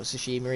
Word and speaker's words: Tsushima: Ghost of Tsushima, or Tsushima even, is how it's pronounced.